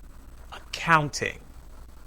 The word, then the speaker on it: accounting: In accounting, the second syllable is stressed. Accounting.